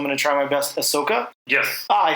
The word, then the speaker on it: Ahsoka: There was a trailer for, and Bob, you're the Star Wars guy, so I'm going to try my best, Ahsoka.